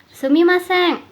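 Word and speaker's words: すみません: Contohnya yang menggunakan pelafalan eng ada di kata ini, sumimasen.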